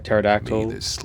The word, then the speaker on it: pterodactyl: the I think you know why you can never hear a pterodactyl go to the bathroom cuz the pee is silent awaken the may